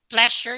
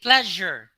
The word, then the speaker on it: pleasure: the the letter s you do not say pleasure you say pleasure that is a z sound and for example this